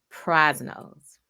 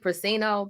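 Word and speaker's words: Prasino: times a month i don't know if i'm pronouncing it right but it's actually in saint charles missouri and it's called prize nose oh ross nose okay i'm writing this down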